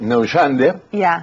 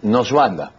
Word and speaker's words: Neuschwander: Bueno, tiene la versión latina, que es Neuschwander, y la pronunciación, llamémosle, es alemana, que nunca me sale bien, es Noswanda.